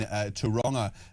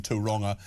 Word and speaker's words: Tauranga: Dave in Tauranga, which is apparently how you pronounce it.